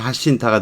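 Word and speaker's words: Jacinta: Then 하신타. 스페인어 발음이니까 하신타가 될 겁니다.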